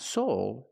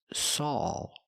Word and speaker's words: Saul: I need the sound aw like call, ball, and fall. Also with a name, the name is Saul. It's not Soul, it's Saul.